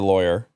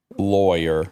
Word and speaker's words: lawyer: r i hired a lawyer lawyer ly so rhymes with boy yeah there's also rhymes with flaw okay and I use